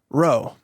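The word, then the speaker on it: rho: lowercase letter P but that's actually pronounced row.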